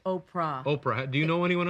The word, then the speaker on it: Oprah: You know, I was mispronouncing your name all last week. I was under the impression it was Oprah. I bet you were calling Winfrey. Oprah. Yeah. Oprah, but it's not. No, it's Oprah.